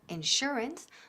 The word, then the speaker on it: insurance: Lo mismo sucede con la palabra sugar o insurance, donde la sh se pronuncia como sh.